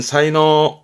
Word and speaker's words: 才能: 발음은 사이노, 사이노.